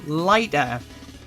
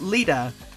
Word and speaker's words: Lighter: spectacularly well and finally katherine lighter not leader i mispronounced their name